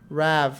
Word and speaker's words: Rav: Rav, like Ravioli.